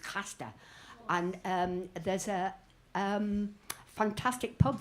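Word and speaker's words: Craster: time I went to a place called Crasta, which is pronounced Casta.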